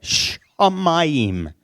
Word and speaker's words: shamayim: Shamayim. Okay, shamayim. It begins with this letter, but it's a sh noise that it makes.